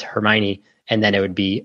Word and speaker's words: Hermione: Harry Potter came out everyone was pronouncing uh Hermione as hermony and a ton of different variations uh and if she wanted JK Ron could just go in there and say oh no it's Hermione and then it would